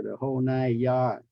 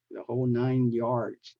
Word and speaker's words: the whole nine yards: remember pronounce them correctly don't say the whole n yard the whole nine yards okay and then uh